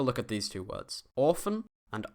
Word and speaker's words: Ofen: Orphan and often. Because this is a single F, this or, the vowel before it, becomes long. Orphan.